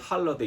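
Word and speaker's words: holiday: 영어로는 할러데이 이렇게 발음을 하겠지만 어쨌든 홀리데이의 근원은 그랬습니다.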